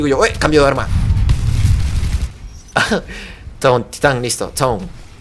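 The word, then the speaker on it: Tone: Ton, titán, listo. Ton. Toné. Toné suena muy mal. Así que ton. Así que no lo vayan a pronunciar en español porque sería la peste, ¿eh?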